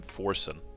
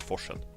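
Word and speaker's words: Forsen: And I think most people would probably pronounce him Forson, but in Swedish, you would pronounce it Forchan.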